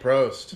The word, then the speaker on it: Prost: Prost.